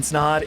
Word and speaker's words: Snod: My name is Snod. It rhymes with Odd.